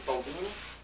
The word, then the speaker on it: Boldini: Is that the way you pronounce it, Boldini? Yeah.